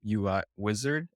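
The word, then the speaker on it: Uizard: I think it's um UI wizard is how it's pronounced but it's UI zard so I was comparing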